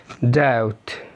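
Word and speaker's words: doubt: تاني حالة بيكون فيها حرف البي سايلنت لما يجي بعديه تي، زي ديت داوت ديت يعني دين داوت شك ساتل ساتل.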